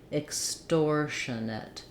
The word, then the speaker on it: extortionate: We have this shun syllable with our schwa, and then the ATE doesn't follow the rules. It's not like the word ate. Instead, because it's a reduced vowel, it'll sound like it or ut.